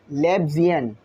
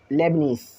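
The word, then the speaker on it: Leibniz: तो जो कि लेब्जियन, ये जो था हमारे पास लेब्जियन फार्मूला, सॉरी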